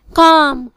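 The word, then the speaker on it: calm: silent L, arms खैरात arms, बाम मरहम बाम, Kaif बिछड़ा Kaif, काम पुरसकून काम, कुड कर सकता था कुड, फोक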